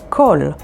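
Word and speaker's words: כל: all the letters that we've learned so far kol spelled with haf and lamid and means all clali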